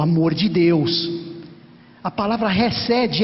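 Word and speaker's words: חסד: Essa palavra é resed. Se escreve C-H-E-D-E-D. Chesed ou resed, transliterando para o português, claro.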